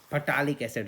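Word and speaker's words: phthalic acid: फटालिक एसिड spelling भी देखो, PHTH, फटालिक एसिड, फटालिक एसिड।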